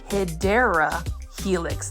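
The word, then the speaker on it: Hedera helix: stunning HRA helix or what you call the hyera Helix that is the correct way to say it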